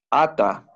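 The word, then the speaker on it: אתה: Esto era atá y ahora es, no lo pronuncié bien, ata, por el acento aquí.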